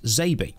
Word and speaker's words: XABY: ZABY means X-A-B-Y, which would phonetically be pronounced ZABY.